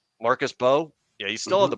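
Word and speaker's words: Mbow: There's the the M is silent. Oh, it's Marcus Bo. Marcus Bow.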